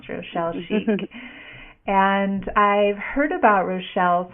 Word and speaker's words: Schieck: It is a fun name to pronounce, Rochelle Schieck.